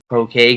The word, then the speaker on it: Pokagon: which is called uh poan is how you say it but it looks like you it looks like poke Pokagon it's is funny I